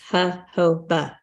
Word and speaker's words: jojoba: up jojoba, and you're Oh. right. Oh, good. I looked at the pronunciation, and it's jojoba.